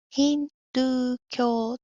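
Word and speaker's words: ヒンドゥー教: これはヒントゥ教と読みます。この部分はドですね。英語の do みたいに発音します。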